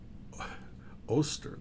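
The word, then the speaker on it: Oester: I'm sure that's how you pron Ron O o oster. That's the way they pronounced it. Oster.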